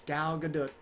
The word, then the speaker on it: Gal Gadot: But I've been watching the YouTube videos of her pronouncing her own name and people from her native country pronouncing her name. It's Gal Gadot.